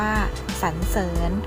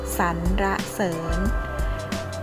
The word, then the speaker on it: สรรเสริญ: สระ อิ ญ หญิง ออก เสียง ได้ 2 แบบ นะ คะ แบบ แรก ออก เสียง ว่า สรรเสริญ และ แบบ ที่ สอง ออก เสียง ว่า สัน-ระ-เสิน แปล ว่า ว่า กล่าว